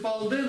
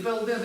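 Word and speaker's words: དཔལ་ལྡན: Главное знать, что если кто-то произносит палден или пелден, или, дай Боже, пенден, это нормально. Это то, как иногда бывает.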